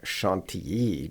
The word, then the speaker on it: Chantilly: south, though of course people in France pronounce that Chantilly, not Chantilly.